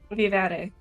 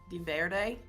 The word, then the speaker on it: vivere: Vivere. Di Verde?